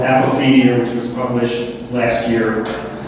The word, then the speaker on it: Apophenia: Apophenia.